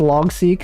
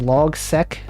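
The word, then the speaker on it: Logseq: seek uh let's see when i first pronounced saw it pronounced as log sec in my head but c makes sense i've heard people pronounce it multiple ways but i think seek makes sense like seq for sequence xing what do people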